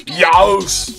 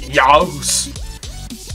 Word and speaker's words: YAOES: So Adam from A Heap of Games didn't know how to pronounce my name. So I told him it's YAOES.